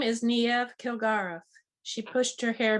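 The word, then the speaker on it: Niamh: name is that irish it's pronounced nieve neve he looked down better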